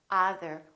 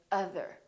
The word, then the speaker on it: other: or son my son or other we don't say either we say other or done done d-o-n-e